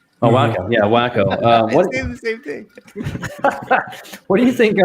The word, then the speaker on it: Waco: college community up there it's pronounced wacko by the way oh wow yeah wacko um what do you